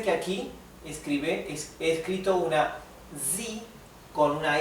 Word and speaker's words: sie: es ella, recuerden que la I con la E se pronuncia I, como una I más larga, I, sie, wir es nosotros, ihr